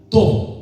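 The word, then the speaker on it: טוב: Bondad en el hebreo se pronuncia tov, son T-O-V, y significa algo más que ser moralmente bueno.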